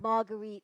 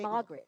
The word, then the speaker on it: Marguerite: they'll say They- Margaret, right? They'll say Mar- Margaret a lot, but it's okay.